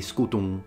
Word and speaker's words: scutum: I think everyone knows the word in Latin now, scutum, with the M that is nasalized, if you really want to go for classical pronunciation. So really, scutum, but the M is almost not there.